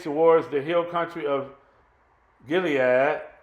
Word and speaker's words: Gilead: the Hill Country of Gilead some pronounced it could lead east of the Jordan